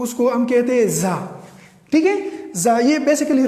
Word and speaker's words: tsar: TSAR یس اس کی دیکھو اس کی تلفظ کیا ہے؟ زا.